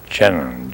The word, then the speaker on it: Jenin: No, it's Jenin, J-E-N-I-N, real easy.